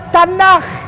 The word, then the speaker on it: Tanakh: Dibacanya Tanakh.